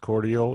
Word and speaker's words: Cordial: and i think he it's pronounced cordial is that what it is yeah cordial c-o-r-i c-o-r-d-i-a-l cordial cable usa is the